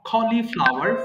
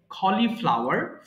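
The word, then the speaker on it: cauliflower: কুমড়া pumpkin gourd কুমড়া এরপর খলিফ ফ্লাওয়ার হচ্ছে উচ্চারণটা হবে খলিফ্লাওয়ার ফুলকপি কলিফ্লাওয়ার ফুলকপি কিউ খাম্বার শসা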